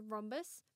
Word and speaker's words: rhombus: this page is a rhombus pronounced with a silent H this is a circle